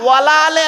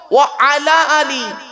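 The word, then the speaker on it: وعلى آل: আলি, ওয়ালা আলে নয়, ওয়ালা আলে নয়, ওয়া আলা আলি। ওয়ালা আলে বললে নফির মানে হবে, নেগেটিভের মানে হবে, নাবাচকের মানে হবে, উল্টে গোনা হবে। আচ্ছা এটা কি? ওয়া আলা আলি, উচ্চারণটা ঠিক করুন।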